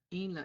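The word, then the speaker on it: inla: Ela hulba and Ela Ela is spelled i n l a following the rules for writing nasalization before TCH hnl nasalization is written as the letter and and again just to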